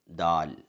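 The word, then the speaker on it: دال: അടുത്ത അക്ഷരമാണ് ദാൽ. കൂട്ടുകാർക്ക് പലർക്കും പരിചയമുള്ള അക്ഷരമാണ്. ഉച്ചാരണം ദ, ദി, ദു എന്ന രീതിയിലാണ് വരിക.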